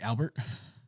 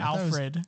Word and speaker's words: Alfred: the bat family probably Albert what he said podcast you heard that right you heard him get his name wrong oh what's his name Alfred Oh I thought it was Albert bro bro I've grown